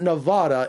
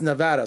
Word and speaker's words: Nevada: and Shawn stick Larkin how to pronounce Nevada it's not Nevada it's Nevada so you think he can